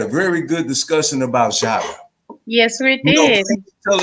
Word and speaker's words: Shaka: Yes, Shaka Zulu.